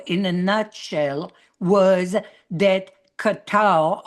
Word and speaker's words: Qatar: And my answer in a nutshell was that Qatar or gate as it properly pronounced and Saudi Arabia bought